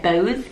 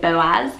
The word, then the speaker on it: Boaz: the charts quite high Boaz it's one of those hard ones to pronounce because it looks like bows but you say that Boaz I really like gonna